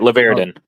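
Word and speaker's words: Larvadain: Dan says Gage Lavardian. How do you pronounce his name, Mike? I don't want to put. Everybody says it different. Just say it. I say. I'll just say Gage. Laverdin. That's how you say it.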